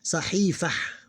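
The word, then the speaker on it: صحيفة: So what we do in this case, we ignore that. Okay, we have to read it like this. Sahifah.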